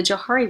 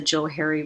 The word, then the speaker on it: Johari: the very bottom but it should really be pronounced the Joe Harry window but we don't pronounce it like that so the Johari Window